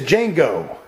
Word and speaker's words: Django: His name is Django, and the D is silent, bitch.